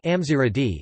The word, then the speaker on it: Gamzigrad: Gamzigrad, Gamzigrad pronounced Amziradi, is an archaeological site, spa resort and UNESCO